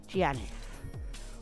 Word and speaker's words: Giannis: Right, Giannis, apparently. That's how it's pronounced. Giannis.